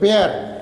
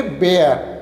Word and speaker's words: bear: Four stanza देखिए जो है, फोर्थ स्टांजा, इसमें देखिए एक बेयर, BEAR, उसको हम लोग प्रोनाउंसिएशन करेंगे बेयर, बियर नहीं कहेंगे, बेयर, ठीक है, बेयर।